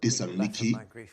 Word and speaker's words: Thessaloniki: Ainsi, Paul s'est déplacé de Philippe à Thessalonique, ainsi appelé Salonica ou Thessaloniki. Et les gens, là, c'est une prononciation grecque.